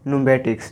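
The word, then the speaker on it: pneumatics: पी के बाद यहाँ पर एन है तो इसको बोलेंगे न्यूमेटिक्स।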